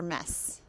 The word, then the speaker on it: Metz: And a little note on pronunciation, it's mess, so it rhymes with yes.